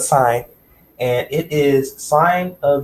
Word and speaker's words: sine: started out let's assign so not sin but sign and it is sine